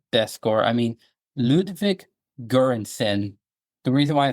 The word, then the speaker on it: Göransson: I mean, Ludwig Göransson.